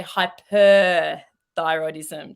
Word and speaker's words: hyperthyroidism: weight loss and confusingly in the australian vernacular hypothyroidism which we pronounce pretty much identically hypothyroid hypothyroid that because we don't pronounce the rs in the middle of our words um and when we doctors talk to each other we really say hyper thyroidism just so we really emphasize it so that we're not